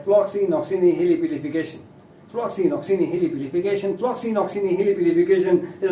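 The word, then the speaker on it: floccinaucinihilipilification: तो इसकी प्रोनाउंसिएशन है फ्लॉक्सीनॉक्सीनिहिलिपिलिफिकेशन। फ्लॉक्सीनॉक्सीनिहिलिपिलिफिकेशन है इसकी प्रोनाउंसिएशन। फिर से बोलते हैं, थोड़ा धीरे धीरे बोलते हैं। फ्लॉक्सीनॉक्सीनिहिलिपिलिफिकेशन, फ्लॉक्सीनॉक्सीनिहिलिपिलिफिकेशन, फ्लॉक्सीनॉक्सीनिहिलिपिलिफिकेशन इज the first word in the series of these 10 words.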